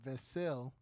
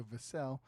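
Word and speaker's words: Vassell: 22 points from Devin vasil I was I found out today I was saying it wrong so vasel who also had eight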